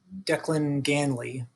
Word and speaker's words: Declan Ganley: its founder i think you should pronounce his name declan gain like declan ganley um gainly uh he um so